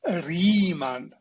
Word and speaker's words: Riemann: his name is oiler this german is called riemann because it's german this guy his name